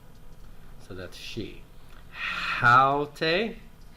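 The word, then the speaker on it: αὕτη: Haute, rough breathing and accent on the first syllable.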